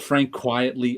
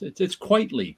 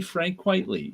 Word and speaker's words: Quitely: I hear him called Frank Quietly all the time. I'm like, can't you? It's Quitely. Quite frankly, Frank Quitely.